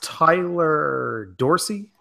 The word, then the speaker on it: Tyler Dorsey: His name is pronounced Tyler Dorsey. Is that correct?